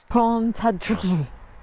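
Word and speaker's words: Pontcysyllte: She said it's like pont and then it's like clechlit. Pontadrus.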